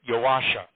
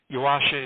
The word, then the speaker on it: Joasia: Yeah, let me correct your pronunciation a bit. Joasia. Now, her real name was Joanna, or Joanne, but nobody called her that. Joasia is the diminutive form. It's like Joni for Joanne. So it's Joasia.